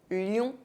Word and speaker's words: lion: OIN are pronounced ouin, but ION are pronounced ion. Loin, lion.